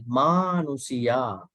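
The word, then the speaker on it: manussā: You think there's a short A, but there's a long A. Manusia.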